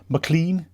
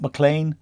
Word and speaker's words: McLean: on welcome to rexsom Mclean James McLean not mlan I called it mlan all our season I'm